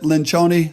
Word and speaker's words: Lencioni: Some of you know him as Patrick Lencioni or other things, but he pronounces it Lencioni, so I'm going to go with his interpretation of his own last name.